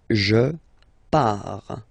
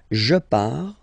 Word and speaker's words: pars: Okay, so the first form is je pars. So final S not pronounced.